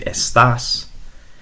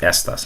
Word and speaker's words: estas: It's pronounced estas, not estás. If you say estás, that's going to mean you are, like como estás. But in this case, it's going to be estas with no accent.